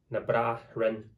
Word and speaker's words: Na Braithrean: Na Braithrean is what it is when it's split, even though it's got all these other letters in there.